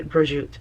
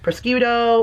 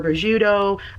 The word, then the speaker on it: prosciutto: So most people say prosciutto or broshooto. Those I Prosciutto? Are Are people saying prosciutto? Some of this has to be rage bait, right? You've heard people say prosciutto? That's pronouncing every letter properly, but the proper pronunciation of that is just broshoot.